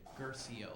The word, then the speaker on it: Guercio: your last name dude and i say garcia like rufio remember from ruby hook yeah you but focus